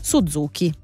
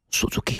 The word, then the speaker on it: Suzuki: più diffuso del Giappone Suzuki No non si pronuncia così si pronuncia Suzuki Suzuki con sottovoce anchei